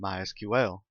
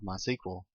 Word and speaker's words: MySQL: As you can tell, I've been calling it MySQL. That is the correct pronunciation. However, it is also commonly called MySQL. If you hear it called that, don't be confused. It's the same thing.